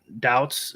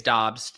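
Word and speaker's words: Doubs: may for this year romeo doubts is that how you pronounce it pete uh i think it's dobbs but we call all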